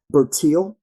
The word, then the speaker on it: Bertil: Bertil. Yes, sir. Uh, B is in boy. E R T I L.